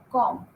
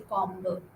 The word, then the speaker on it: comb: Com. You don't say combo. Com. Say com.